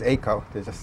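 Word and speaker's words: AIICO: I'm not currently a member of, we also pronounce it as ACO. It's a little easier than saying out the whole long name.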